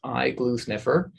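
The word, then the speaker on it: iGluSnFR: decade ago so it's quite new it's actually pronounced eye glue sniffer and it stands for intensity-based glutamate sensing fluorescent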